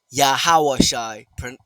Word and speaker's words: Yahawashi: you so his name is yahawashi in the correct pronunciation and the correct language thereof yahawashi paleo Hebrew ancient Hebrew he is salvation